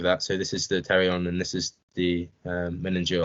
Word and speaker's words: pterion: But what it should say anyway is that this is the pterion, spelled with a P.